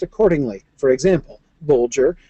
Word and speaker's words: Bolger: For example, Bolger has a G as in bulge, and Matham rhymes with fathom.